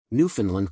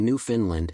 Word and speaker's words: Newfoundland: Another person claimed, "Newfoundland rhymes with understand."